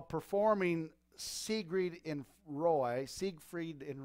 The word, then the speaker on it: Siegfried: not there while performing see greed in roy siegfried & Roy is how you say their names